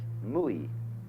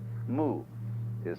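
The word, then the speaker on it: 無為: In Japanese, Mui. I is Japanese for pronouncing the Chinese way. Mu is Chinese Wu. Mui, as distinct from Ui.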